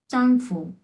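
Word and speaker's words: 丈夫: প্রথমটা আসছে কি, চাংফু। চাংফু। হ্যাঁ, চাংফু, এরকম। এটা কিন্তু চয়ের উচ্চারণ, এই যে চাং চাং, চাংফু।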